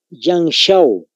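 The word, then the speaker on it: Yangshao: primero anótense se llama yang show Cómo se escribe conlle de yoyo al inicio yang es como cuando decimos show verdad la sh es el mismo yang Esa es la primera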